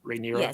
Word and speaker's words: Rhaenyra: set up that Rhaenyra, is that how you pronounce it? Rhaenyra?